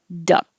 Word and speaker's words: duck: same beginning, duh, 29, duck, duck. I'm not releasing my K, duck, because a lot of times you won't hear that in speech. Lucky duck, lucky duck. We're saying duck. It's short, duck.